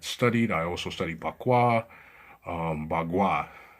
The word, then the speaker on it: Bagua: Bagua, that's the correct pronunciation.